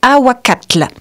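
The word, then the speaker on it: ahuacatl: et le mot avocat en langue asthèque se dit awakatle tu sais quand il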